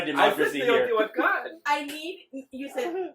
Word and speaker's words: Teotihuacan: The correct pronunciation for the first one was Teotihuacan.